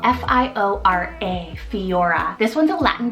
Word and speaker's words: Fiora: Now I love the name Fiora, spelled F-I-O-R-A, Fiora.